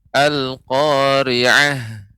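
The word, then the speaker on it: القارعة: Silakan Ibu dibaca surat Al-Qari'ah. A'udzu billahi minasy syaithanir rajim. Bismillahirrahmanirrahim. Al-Qari'ah. Ainnya Ibu lebih ditampakkan ya, jangan sampai terdengar jadi huruf alif. Al-Qari'ah. Akan tetapi bukan alif, namun ain. Al-Qari'ah.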